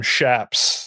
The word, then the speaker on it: chaps: He said cowboys call them shaps.